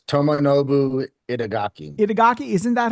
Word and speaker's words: Itagaki: Itagaki, isn't that how? I didn't want to just butcher his name without my man. It sounds exactly how it's spelled, but okay.